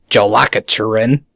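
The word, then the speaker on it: Jólakötturinn: well that's just it Icelandic pronunciation is kind of like Russian where you have those funky letters and you have no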